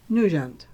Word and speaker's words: Nugent: I pronounce it in this kind of the French way, and it's Nugent.